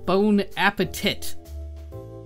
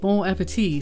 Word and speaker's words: bon appétit: in the original language imagine hearing B appeti pronounced bone Appetit not exactly what you